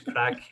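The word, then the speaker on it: craic: We use crack in Ireland to refer to fun.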